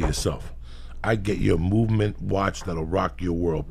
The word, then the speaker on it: MVMT: I get you a movement watch that'll rock your world.